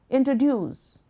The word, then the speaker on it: introduce: For example, the word introduce is pronounced with a stress at the end. Introduce. So it sounds like introduce, introduce, introduce, duce.